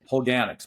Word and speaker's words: Holganix: and how do you pronounce it? Holganix? Did you Yeah, say? Holganix, because it's the runoff of these fertilizers into